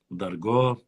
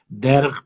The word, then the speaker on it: Дерг: Восточная это Ведено, Дарго, Дерг, правильно говорить, Дерг открыли белготовцы, чисто Нохчи село.